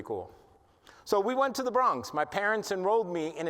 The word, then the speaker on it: the Bronx: you how to say the Bronx correctly. Say duh, like duh, Bronx, Bronx, the Bronx. Say it loud, the Bronx. That's how you say the Bronx.